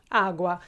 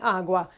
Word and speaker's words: agua: change it, because again the accent is on u. So even though that we have two as that meet, only one of them is accentuated, the other one is not.